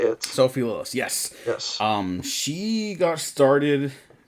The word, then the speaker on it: Sophie Lillis: And now we get the Tiefling, Doric, played by Sophie Lillis. Is that how you say it? Sophie Lillis, yes.